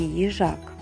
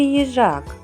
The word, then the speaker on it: їжак: Давайте поставимо наголос у слові їжак. Погукайте їжачка. Їжак. Їжак. Куди падає наголос? Так, наголос падає на звук А.